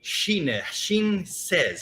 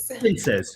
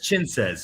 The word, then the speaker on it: Chinses: We have Carly Shin Says. How do you say your name? Shin Says. It's Chinses. Chin says.